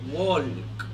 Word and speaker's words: walk: Todas las ls que se encuentran intercaladas en cualquier palabra no se pronuncian, ¿okay? Son omitidas, son mudas. Por ejemplo, cuando decimos caminar no se dice walk, se dice walk.